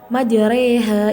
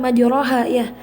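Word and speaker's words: مجريها: majreha wa Klose nah majreha ini bacanya tuh bukan maju rohaya Tetapi majreha fathahnya diubah menjadi miring gitu ke kayak gitu mah jereh Namun demikian menurut imam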